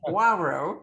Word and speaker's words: Poirot: Poirot, which is like Poirot, because the OI in French is pronounced wa.